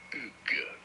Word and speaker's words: Hugues: In French, in France, it is said as Hugues.